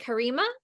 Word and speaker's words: Karima: So let's start with, is it Karima? If I'm pronouncing your name incorrectly, please correct me. Correct.